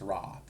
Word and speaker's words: Wraith: And is that how you want it pronounced or is you want it pronounced ra? Uh double A is long vowel. Wraith is good.